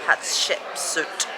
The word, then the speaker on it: Hatshepsut: kings we've decided to give the temple of hatshepsut that's how you pronounce it a miss because honestly we're just